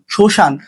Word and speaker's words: শ্মশান: শব্দের প্রথমে মফলা থাকলে মফলার উচ্চারণ হয় না। যেমন স্মরণ, শ্মশান। তো এই স্মরণ আর শ্মশানের কিন্তু মফলা উচ্চারিত হচ্ছে না।